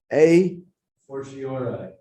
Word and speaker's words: a fortiori: A fortiori. A fortiori. I've never pronounced it.